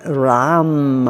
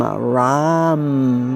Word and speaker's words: Ram: And the one-syllable Sanskrit mantra for it is Ram, Ram, with an R, like Ram.